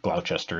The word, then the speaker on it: Gloucester: get on board with Glo Chester city think Glo Chester is how you pronounce it and the reason why I did